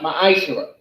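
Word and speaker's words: מעשר: Means tenth in the Hebrew and is pronounced ma'ashera.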